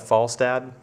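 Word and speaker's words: Falstadd: a d d and I'm going to choose to pronounce that FAL dad and uh that's the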